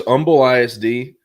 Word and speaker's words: Humble: So, there's Umble ISD, which has Umumble Eye. It's spelled humble, but you don't pronounce the H.